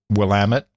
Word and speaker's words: Willamette: my eye mainly because I know how to pronounce it will am it most people don't know how to pronounce Willamette how would you pronounce it otherwise o people say Willamette oh no it's always been Willamette yeah and I know